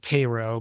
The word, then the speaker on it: Cairo: Uh, but yeah, jumping out of the car and shooting the shot for Gem Theater from they call it Cairo, but it's spelled Cairo.